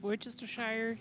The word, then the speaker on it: Worcestershire: Basically, like worst to share.